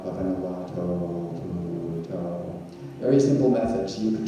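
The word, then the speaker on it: Buddho: In pronouncing Thai, the name is Pu To, and the first method is simply to say 1 syllable per step.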